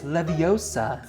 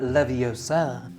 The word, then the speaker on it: Leviosa: with packages okay Wingardium Leviosa and then Hermione is like it's Leviosa not Leviosa I totally read her